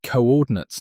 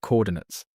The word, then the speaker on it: coordinates: And it's pronounced coordinates, not coordinates. It used to be written like this, co with a hyphen, then ordinates.